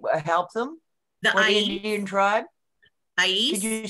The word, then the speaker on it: Ais: Ais. Did you spell it?